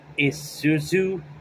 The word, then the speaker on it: Isuzu: where it show what's her name uh ISU Isuzu yeah Isuzu that's how you say her name